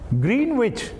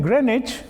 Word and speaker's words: Greenwich: And it is not Greenwich, because in Greenwich and Norwich, the W is silent.